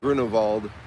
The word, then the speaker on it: Grunewald: And I do pronounce Grunewald with a V.